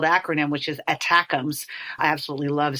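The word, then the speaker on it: ATACMS: missile system when they have such a cooler phonetically spelled acronym which is attackums I absolutely love saying that so but we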